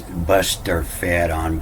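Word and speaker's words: boustrophedon: fedon and uh and they're pronounced this buster fed on but it's it's the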